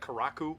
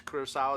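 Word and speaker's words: curaçao: Those tiki drinks they're rum, and there's like blue curacao that you put in, which looks like karaku, but it's curacao is how it's pronounced.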